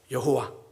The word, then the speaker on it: 야훼: 히브리어로 여호와, 뭐 정확한 발음으로도 뭐 야훼 이렇게 정도 되는 그 이름을 알려주시죠.